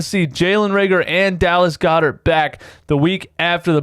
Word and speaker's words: Goedert: I know I tried to say that yesterday or the day before for Jalen Raegor, and I couldn't say it correctly. I said it right this time. 21-day practice window, Dallas Goedert. Give me tingly feelings inside.